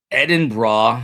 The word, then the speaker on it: Edinburgh: Edin bra. I've learned that. Edin Bra. I wonder how weird they think that I am. That I am that I say Edinburgh.